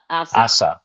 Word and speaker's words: Asa: Asa. We're calling her Asa. Yeah, Asa. Yeah, Asa. I wrote it down phonetically.